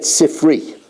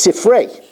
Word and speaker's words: Sifrei: All my life, we said Sifri. It says in the Sifri. That's the wrong pronunciation because it refers to the Medrash on Bamidbar and Devarim, and it's Sifrei, and not Sifri.